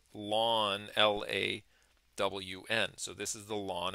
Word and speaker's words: ln: sciences that it gets its own name called lawn the natural logarithm which is pronounced lwn l a w n so this is the lawn of X the